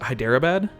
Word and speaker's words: Hyderabad: They're dudes from, how do I pronounce it? Hyderabad?